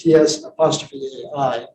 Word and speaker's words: Tsai: So the first one, Tsai, in the Wade-Giles is TS''AI, but in Pinyin, which is in China today, it's CAI. They're both pronounced Tsai, but they're spelled differently.